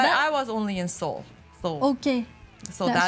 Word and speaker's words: Seoul: How do you pronounce that? Seoul.